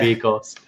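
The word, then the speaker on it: Vyrkos: Yeah, it's VYR. Yeah. The R's before the K. So yeah, V-Cross.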